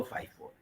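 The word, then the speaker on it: FIFO: अच्छा, फिर क्या है, ये दो बहुत मशहूर मेथड है, इसको लोग लीफो फीफो भी बोलते हैं, बट जो सही प्रोनाउंसिएशन है वो लाइफो फाइफो।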